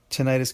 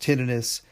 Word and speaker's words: tinnitus: Again, yes, tinnitus can also be pronounced tinnitis. They're both correct.